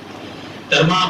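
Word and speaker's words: طرماح: ہیں۔ ترمح بن عدی، تاریخ میں ان کے نام کے 2-3 تلفظ ملتے ہیں، ترمح بھی ملتا ہے، ترمہ بھی ملتا ہے، لیکن علماء پاکستان کے نزدیک ان کا مستند ترین تلفظ جو ہے وہ ترمہ ہے، اور کچھ روایات کے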